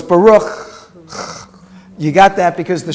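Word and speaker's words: בָּרוּךְ: And so we pronounce that letter as cha. Cha. So it's Baruch.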